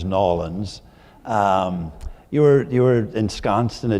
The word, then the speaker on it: New Orleans: So wonderful to be here, and without further ado, Vicky, growing up in a place that I used to call New Orleans, and then I learned to pronounce as Nolans, you were ensconced in a deeply Catholic family and culture there.